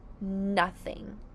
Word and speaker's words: nothing: It is the word nothing. Say nothing. The 2 syllables of nothing are thing. Nothing. Let's sound n. Being an N, and you hear a short U, but it's spelled here with an O.